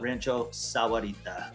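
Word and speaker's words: Rancho Sahuarita: you've been here long enough you call it Rancho Sarita that is the the pron the correct pronunciation of it and that is down south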